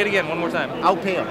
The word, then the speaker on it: Aupeo: Aupeo. Aupeo. But you also can call it Aupeo.